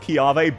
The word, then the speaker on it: Chiave: This one is once again pronounced Chiave, but it's Italian, so it goes in the I tier. Nice and easy, the Italian pronunciation of k.